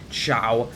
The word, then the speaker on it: Zhao: First State out there that the name is pronounced Chia um it's pronoun it's spelled z h o